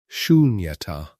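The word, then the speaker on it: śūnyatā: Say it slowly if you like, in the privacy of your own quiet. Shunyata. 3 syllables, soft and open, ending on a breath rather than a stop.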